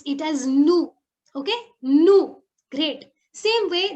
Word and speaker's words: nous: As I've always kept on telling you, in French, normally we do not pronounce the last consonant. So here we are not pronouncing the last S. So we will pronounce it as nous.